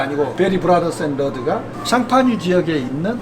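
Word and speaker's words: Champagne: 나고 의 차이가 뭐냐면요 국제법으로 프랑스 션 파주지역 샹파뉴 를 영국 사람들은 항상 이태리에 있는 지명이나 프랑스에 있는 지명이나 영어식으로 발음한 걸 좋아하기 때문에 샴 파니의 영어식 표현이 샴페인 이라구요 샴페인 없고 있는데 국적법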